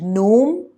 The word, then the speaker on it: gnome: words autumn and him g in the words no and gnome t in the words